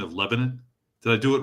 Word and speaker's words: Lebanon: him, you you uh corrected me on my pronunciation of Lebanon. Did I do it right that time? Lebanon. Lebanon. Lebanon.